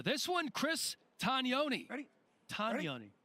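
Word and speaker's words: Tognoni: Tagnoni. We've been saying it wrong. Tagnoni. Tagnoni. You have to do that thing with your hand when you say it. I got to be more Italian.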